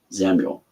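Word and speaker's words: Xamul: Uh that is spelled X A M U L Samuel.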